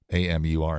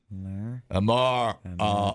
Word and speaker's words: Amur: A-M-U-R. How do you pronounce that? Amur.